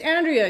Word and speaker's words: Andrea: She's right. It's Andrea. You're saying it wrong.